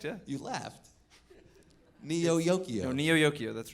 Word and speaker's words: Neo Yokio: Neo Yokio.